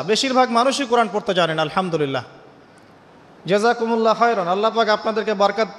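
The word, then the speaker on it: الحمد لله: এইতো আপনি পড়ছেন আলহামদুলিল্লাহ। শব্দটা কি? আলহামদুলিল্লাহ। এই হা এর মাখরাজ কোথায়? হা এর মাখরাজ কোথায়? বলেন একজন কন্ঠনালীর মাঝখান থেকে এখান থেকে আপনি উচ্চারণ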